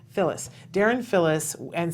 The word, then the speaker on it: Fillis: Fillis. Fillis.